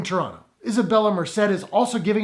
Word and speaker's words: Toronto: Turns out he knows how to pronounce the word Toronto properly, because there's no second T in Toronto.